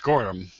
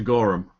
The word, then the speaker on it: Gorham: Except my name is actually pronounced Gorham. As opposed to Gorham.